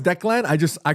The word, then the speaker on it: Declan: Murf says it's Deckland. Uh, it's Irish so no extra syllable. No, I know it's Declan.